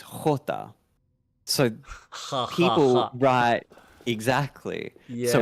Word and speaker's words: jota: So the way you pronounce J is jota.